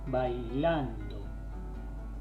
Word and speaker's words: bailando: Bailando, acaba el acento, así que no tenemos ningún inconveniente. No es bailando ni bailando, sino que es bailando, ¿sí?